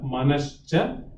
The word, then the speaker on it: Manascha: The response is Manaha cha, Manascha, Jnanendriya Panchakam, Militva Yo Bhavati Sa Manomaya Kosha. Let's look into the pronunciation first. Mana, Mana, and Cha. Mana and Cha put together would become Manascha, Manascha, Jnanendriya, Jnanendriya, Jnana Indriya.